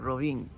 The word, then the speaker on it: Rovinj: mind it was like it's got to be Rin because there's a J at the end but apparently it's very very soft so the locals say like Rin um and so uh